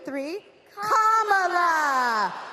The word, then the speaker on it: Kamala: do you pronounce it first you say comma like a comma in a sentence then you say la like la la la la la put it together and it's 1 2 three comma all right so let's